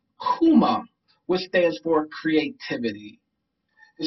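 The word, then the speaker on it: Kuumba: talk about um the next principle which is pronounced kuma which stands for creativity the symbol for today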